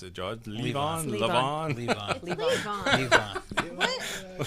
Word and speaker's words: Levon: covering Levon, or how do you pronounce it, George? Levon? Levon. Leave on.